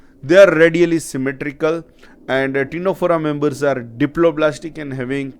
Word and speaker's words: Ctenophora: we shall move to Ctenophora. Here C is silent, we are calling it Ctenophora, and this Ctenophora members are commonly known as sea walnut or comb jelly, and they are exclusively marine.